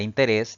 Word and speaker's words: interés: en el inciso c la palabra interés debe llevar tilde porque la mayor fuerza de voz recae en la última sílaba contando siempre de derecha a izquierda y además termina en consonante s sigamos practicando diga Cuántas